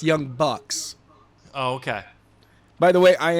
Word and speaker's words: Young Bucks: Yeah, I thought it was Books. yeah. No, it's Young Bucks.